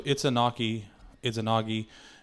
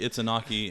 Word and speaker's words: Izanagi: So Izanagi, and Izanami, I think is how you say both of them.